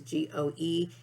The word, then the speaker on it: GOE: Gordon's Occupational Engineering is, the acronym is GOE, and it would be pronounced GO.